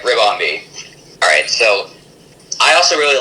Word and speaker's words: Ribombee: Yeah, looks like I was right. Ribombee.